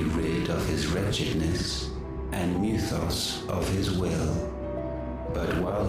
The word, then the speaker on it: Mythos: missiles even then he's not saying Mythos he's saying like mithos like um that's